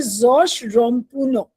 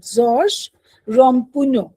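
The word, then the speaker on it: Georges Ramponneau: लिखा है आपके उसमें उसका एक्चुअली करेक्ट प्रोनंसिएशन है जोश रमपुनो मैंने इसको देखा था कि फ्रेंच में इसको हाउ डू we pronounce it जोश रमपुनो ठीक है so don't go बाय the spelling और दिस मैन जो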